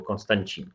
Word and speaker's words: Konstantin: Chcieli wykorzystać ten taki kryzys konstytucyjny, bo nie było wiadomo, czy władzę przejmie Mikołaj, czy też brat zmarłego Aleksandra I, Konstantin, albo Konstancin, jak oni wymawiają.